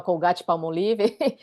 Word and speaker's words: Colgate-Palmolive: Aliás, você sabia que se pronuncia dessa forma, Colgate-Palmolive?